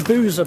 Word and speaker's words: Buza: Okay, the first port of call is going to be the Buza bar. The locals say Buza, B-U-Z-A.